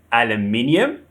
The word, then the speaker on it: aluminium: The stress is on the third syllable, aluminum. So we have aluminium and aluminum.